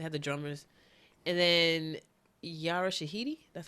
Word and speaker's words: Yara Shahidi: They had the drummers, and then Yara Shahidi.